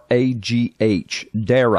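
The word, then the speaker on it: Darragh: Dara, D-A-R-R-A-G-H, Dara.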